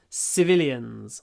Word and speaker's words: civilians: not military person civilians civilians civilians try to make the C civilians the the most important sound is the V civilians not the E